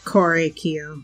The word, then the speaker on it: Korekiyo: the culprit behind these murders it's correct you korekiyo like that thing pronouncing I think I've been pronouncing it wrong